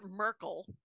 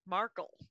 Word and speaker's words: Markle: of the Duke and The Duchess of not Merkel Markle okay no it's not Merkel it's pronounced that's the former chancellor of Germany that's